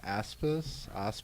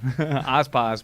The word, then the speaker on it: Aspas: Aspis? Ass-peas. Sure, that. No, Aspas, but I call her ass-peas.